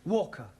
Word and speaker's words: Walker: more all that Mrs vka is keeping me busy Anna do this Anna do that she is a Slave drivers at Mrs Walker Walker what w is pronounced W your employer's name is Walker yeah vka do you